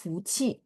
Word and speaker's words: 富: Ini bacanya fu, nada 4.